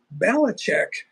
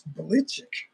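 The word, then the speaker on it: Belichick: with their six titles balich is not really the original pronunciation of it's belich belich is the or I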